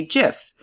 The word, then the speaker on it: GIF: a point on the gift side and that's it those are the only two semi-decent arguments both of them point towards gif so you may wonder why I continue to say jiff easy because I've literally said